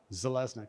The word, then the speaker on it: Zeleznick: this if you're wondering how to say my last name this is how zelnik exactly how it's spelled and one more slide